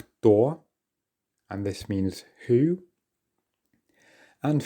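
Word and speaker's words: кто: the fourth word was maybe you find it hard to combine those two consonant sounds at the start but just try your best door and this means who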